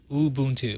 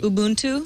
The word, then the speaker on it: Ubuntu: say that right I said it right there Ubuntu Ubuntu took me seven years to get that right